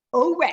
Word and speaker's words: Ouray: you go to, I don't know how you pronounce it. Is it Ouray or Ouray? Ouray, oh, that's a neat town. Oh. and We Isn't that cool? really Oh, yeah. liked Ouray.